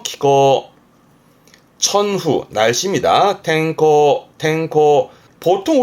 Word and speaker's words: 気候: 이게 기후, 발음은 키코, 음으로는 코죠. 키코.